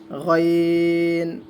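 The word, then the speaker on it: غين: আইনের উপর যখন আমরা একটি নক্তা দিয়ে দিব তখন এটার নাম হয়ে যাবে গয়িন, গয়িন, গয়িন, আইন, গয়িন। এগুলো গলার ভিতর থেকে উচ্চারণ করা হবে একটু মোটা করে, আইন, গয়িন।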